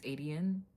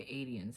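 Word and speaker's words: Aedion: Like right now within the book, he's with Adian, however you want to pronounce his damn name. I think it's Adian. I do sometimes say Adian, but Adian sounds right.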